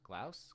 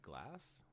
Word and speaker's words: Glaus: Glouse. I can't say his name. Troy. Troy Glass. No, that's not Glass. I'm being silly. Troy Glaus glouse. That's that's what I'm trying to say.